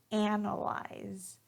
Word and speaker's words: analyze: So here the pronunciation for the verb is analyze. Analyze. Analyze. So notice here that I'm placing emphasis on that first syllable, analyze.